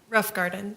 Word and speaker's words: Roffengarden: All right, and was Miss Melissa Roffengarden, is that how it's pronounced? Pronounce it for me. Rough Garden. Rothgarden, okay, thank you.